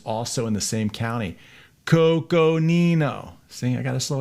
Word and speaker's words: Coconino: Coconino.